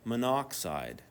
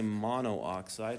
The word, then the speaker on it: monoxide: We're not going to say mono oxide. Why not? Because it looks like monukide. That'd be goofy, right? So if there's two if there's two syllables, we just cut or sorry, two two vowels, we cut one of the vowels out. Cut the right one out just to make sure it sounds like the element name.